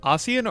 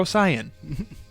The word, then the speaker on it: Ossian: On a similar note, Ossian or Osian?